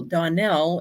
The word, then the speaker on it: Donell: once I tell people Donell is pronounced like Russell so it's Donal Donell